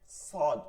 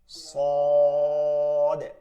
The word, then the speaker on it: ص: আচ্ছা দেখেন, সদ উচ্চারণটা হবে জিহ্বার আগাটা নিচের ঠোঁটের পেটে, পেট থেকে আগা পর্যন্ত লাগায় মোটা হবে। স স সদ স সদ।